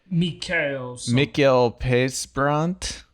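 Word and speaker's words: Mikael Persbrandt: Mikael Pesbrandt.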